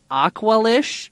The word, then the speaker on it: Aqualish: As he's walking, so this whole meatpacking plant, or the sub, is run by the Aqualish, is how you say yeah.